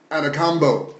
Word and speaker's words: Antetokounmpo: Let me see if I can pronounce his name correctly. Giannis Antetokounmpo.